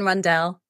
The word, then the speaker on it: Rundle: excited to introduce Caroline Rundle I hope that's how I say your surname Caroline that is how you say it Caroline randelle randelle randelle okay um